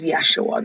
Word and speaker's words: Yeshua: jesus's real name is yeshua that is his actual name um back when he was born the letter j wasn't even out there was no j sound was actually pronounced like a y when j first came